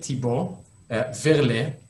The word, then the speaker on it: Thibaut Verlet: And here we are with another person on a jacket, Thibaut Verlet. Did I say it right? Perfect, yes.